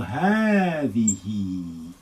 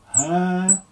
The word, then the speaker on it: هذه: This is in your pronunciation, there will be lengthening, but when we write it down, we're going to omit that. So هذه. When we write it, we will say هذه. Again, let's cross out that alif.